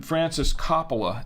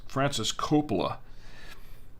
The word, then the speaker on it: Francis Coppola: say it you know i was calling him francis coppola and i was like no it's francis coppola and then my wife says i thought it was coppola i'm just saying